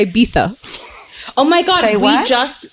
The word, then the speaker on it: Ibiza: I don't know but there's a lot of Americans say Ibiza because of the Z but apparently it's like a th and so it's Ibiza anyways guys who's an